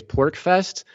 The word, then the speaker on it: PorcFest: The other event, by the way, is PorcFest. So it's spelled PORCFEST. So it's short for Porcupine Freedom Festival.